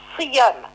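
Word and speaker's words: siyâm: Mais si on trouve une voyelle I dans la première syllabe, alors le W devient Y, le W devient Y, comme dans Siyam. Et cela pour harmoniser la prononciation du mot.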